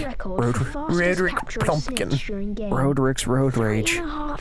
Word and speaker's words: Roderick: Nordric Plumpton or something.